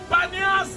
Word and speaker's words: Banias: As Arabs could not pronounce P, then they called Et si vous Banias. demandez à tout le monde ici, ça s'appelle aussi Banias.